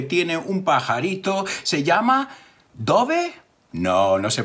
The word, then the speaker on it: Dove: ¿Se llama Dove? No, no se pronuncia así, se pronuncia Dove. Y Dove es paloma blanca.